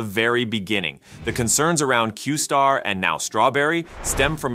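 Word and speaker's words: Q*: model was known as Q asterisk pronounced qar within open AI this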